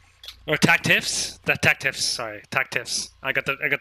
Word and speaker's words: TacTiffs: Tick tactics. Or tactifs? The tactifs. Sorry, tactifs. I got the name wrong.